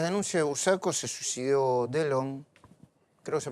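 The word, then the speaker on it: Delhon: Bueno, en el medio de las denuncias de Bursaco se suicidó Delon, creo que se pronuncia así, ¿no? Sí. Delon, sí.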